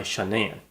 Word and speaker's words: Shanann: the sentencing or something, the parents called her Shannon, which is how her name is spelled, but she went by Shanann.